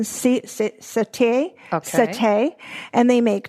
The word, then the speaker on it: Siete: It's spelled Siete. It's Spanish or Mexican satay.